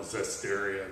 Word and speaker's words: Zesteria: So the description of the app had multiple different ways to pronounce it, but the creator actually said if you just want to call it Zesteria, that's fine with him.